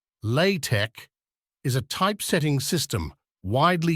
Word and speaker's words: LaTeX: LaTeX, pronounced LaTeX, is a typesetting system widely used for the production of scientific and mathematical documents.